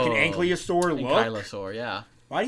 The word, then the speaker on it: ankylosaur: But like rock dragon, and you kind of lean more into a dinosaur, like an ankylosaur look. Ankylosaur, yeah. Why do you say ankylosaur? Because it's spelled ankylosaur.